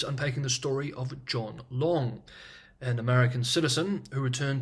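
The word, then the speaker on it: Leung: the gentleman's last name long spelled l e u n g is the anglicized spelling of a Cantonese name which in Mandarin is pronounced leang for the sake of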